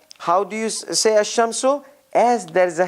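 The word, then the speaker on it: الشمس: it and the article goes away it becomes asham so this is how you pronounce it but this is the real written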